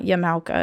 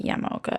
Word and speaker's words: Yamaoka: Probably actually Yamaoka, because in Japanese they pronounce every syllable, so it's not Yamaoka, it's probably Yamaoka.